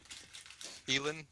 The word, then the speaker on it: Elin: And It's pronounce Elin. E-L-I-N. it?